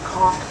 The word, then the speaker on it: conch: this what I'm up here this is a comp shell the word is spelled c n c but it is pronounced